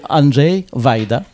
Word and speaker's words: Andrzej Wajda: Alors, je vais laisser plutôt Annie à le dire, mais en en principe c'est plus près de Andj Vaida.